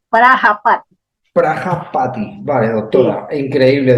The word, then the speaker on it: Prajapati: Por eso hacían eso, así, Prayapati con J, Prayapati, quiere decir padre de la humanidad con en J. la India. Vale. Sí, Prajapati se escribe, Prajapati.